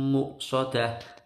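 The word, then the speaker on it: مؤصدة: sukun satu tidak alaihim muksodah nah ini yang seringkali keliru ada yang sering bacai tumor soda salah ya karena ini pakai Hamzah maka bacanya cukup di ujung muksodah bukan more bukan di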